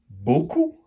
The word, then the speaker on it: beaucoup: Et dans le dernier mot, beaucoup, on entend le son O dans la première syllabe. Beau. La lettre B fait le son B, donc c'est toutes les autres lettres à côté qui font le son O. E, A, U.